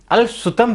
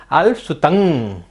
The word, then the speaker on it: अल्पश्रुतं: 90% लोग इस पहले काव्य को, पहले अक्षर को अल्पसुतम पढ़ते हैं, जबकि इसमें कहा क्या है? अल्पसुतंग। अंग की मात्रा कही गई है।